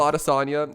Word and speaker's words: Adesanya: exactly autosomia that's right yeah that's right israel otasanya is defending his middleweight title against robert whittaker